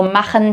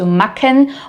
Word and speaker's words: machen: strange at first, and most beginners automatically actually replace this with a k sound. So, machen turns into macken or Buch sounds like book.